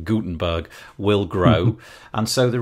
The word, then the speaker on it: Gutenberg: I think the the audience for Guttenberg will have I said it wrong Gutenberg will grow and so